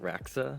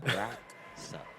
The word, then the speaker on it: Raksa: Yeah, I mean, my name's not very long, but it's pronounced Raksa. Raksa.